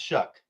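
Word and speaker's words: Shough: He says, "Look, I get that Tyler Show isn't the flashiest name out there, but I'm genuinely excited about Chuck." What is it? It it's it's spelled SH, but it's pronounced Shuck.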